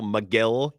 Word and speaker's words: McGill: I saw a Brewers account today tweet big, beautiful McGill. Kind of rhymes with Bill.